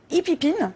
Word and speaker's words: Hipip IN: Alors vous êtes présidente et cofondatrice de Hippipine, je le prononce bien?